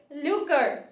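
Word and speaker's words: lucre: okay the next word is looker the pronunciation is looker l-u-c-r-e okay it is a noun and the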